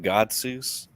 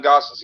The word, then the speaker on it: Gotsis: Well, I'm gonna butcher this next name, but Adam Gotsis. You actually didn't. Is that how you pronounce it? Adam Gosses, yeah.